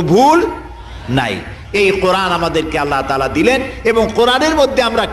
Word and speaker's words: আল্লাহ: করতেছেন আমি কি বলতেছি যদি বলি আল্লাহ তাহলে এটা অশুদ্ধ আল্লাহর নামটা হচ্ছে আল্লাহ বলতে গিয়ে মুখটা গোল হয়ে যাবে বলেন তো আল্লাহ মহব্বত